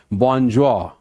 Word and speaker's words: bonjour: A foreign expression, French expression, bonjour. Pronunciation is bonjour.